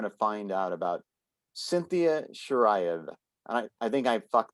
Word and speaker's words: Shiraev: that we're going to find out about Cynthia Shiraev. And I think I fucked that up. Is it Shiraev? You actually got it pretty right. What is the exact pronunciation? Shiraev.